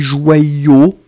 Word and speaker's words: joyeux: donc A-U-X, faites attention, c'est pas A-U-X, mais c'est vraiment E-U-X. Hein. Le son, c'est vraiment E à la fin, hein, et on écrit E-U, et le X final qu'on n'entend pas.